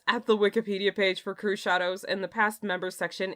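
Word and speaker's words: Crüxshadows: So the name Crew Shadows was a familiar sight to me. The pronunciation was a new experience, however. I always thought it was Crux Shadows. Nope.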